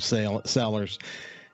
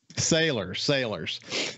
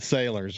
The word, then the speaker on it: Salers: I'm glad to have my friend, multimedia journalist from SuperTalk Mississippi News, Caleb Sellers. And Caleb, you're doing a good job. Am I pronouncing your last name correctly? Sailors.